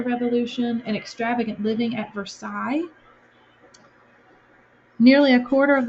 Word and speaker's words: Versailles: where the king lived I know it looks like Versailles but you say that Versailles because in French you have silent letters and it's not as complicated as English but sometimes it's complicated so Versailles is how you say that and our last bullet